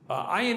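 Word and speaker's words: עין: In other words, ayin is difficult because it's guttural. It's right? It's hard for Americans to, as a matter of fact, a lot of Israelis just consider it to be a silent letter, but it's really a guttural.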